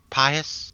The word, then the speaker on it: Pious: now so you've just am I pronouncing your name right Pious Pious it's Pious right oh yeah yep you got it right excellent just tell me